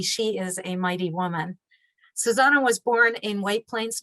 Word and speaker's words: Xusana: is spelled x-u-s-a-n-a and pronounced like the song oh susanna she got her law